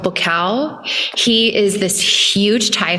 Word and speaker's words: Buakaw: I would watch this Muay Thai fighter when I was fighting Muay Thai called Bukal. He is this huge Thai fighter. It's spelled Buakaw.